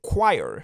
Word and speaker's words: choir: The choir, attention à la prononciation, c'est choir.